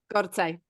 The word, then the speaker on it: Gorcaj: So yeah, I kind of pronounce it the Polish way as Gorcaj.